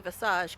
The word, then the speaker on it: visage: All right, Will, you get 1 point for pronouncing visage correctly, but that puts you up to like negative 999 points.